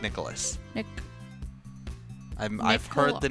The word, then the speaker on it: Nicklaus: golden bear doesn't he are you sure it's not nick klaus nick j nick klaus his name is spelled so jack nicholas yeah i'm pretty sure it's jack nicholas nick i'm i've heard